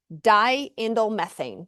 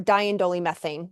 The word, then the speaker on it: diindolylmethane: the main one we hope for, is DIM, diindolylmethane or diindolylmethane, depending on how you say it.